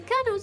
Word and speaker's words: colonel: How the hell is that word pronounced colonel in the first place? There's no R. There's O's. Like, how is Colo pronounced CR? Makes no sense.